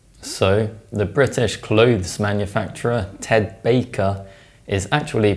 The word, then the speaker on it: Ted Baker: Baker is actually pronounced Ted Baker. In fact, assimilation is so consistent, it's effectively a rule. Whenever an alveolar plosive or nasal is followed by a bilabial sound, it's replaced by a bilabial sound.